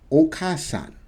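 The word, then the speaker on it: お母さん: should say but the way to pronounce this whole thing together okasan so you don't say the ah because you're already saying ah with the ka so hear me right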